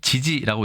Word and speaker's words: 遲遲: 글자가 겹쳐져 있죠 보통 어라고 이야기를 합니다 일단 발음과 뜻부터 알아보도록 하겠습니다이 글자는 우리가 지지라고 읽습니다 지지하다 어근 있데 지지하다의 뜻에 대해서는 뒤에